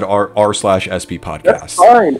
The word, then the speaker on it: RSP: YouTube, it should be r/sp. But I think when we say it, like we pronounce it out loud, we should just say RSP, the RSP podcast.